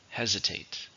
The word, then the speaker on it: hesitate: How many syllables in hesitate? 3, stress on the first, hesitate.